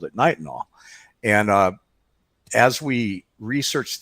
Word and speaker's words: nitinol: know I have pronunciation Nike tall is that correct nitinol and I have Knights and all I always mess it up nice and all so you know a